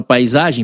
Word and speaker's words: paisagem: Na palavra paisagem, P com som de P, A com som de A, I com som de I, eh, S com som de Z, na verdade, né?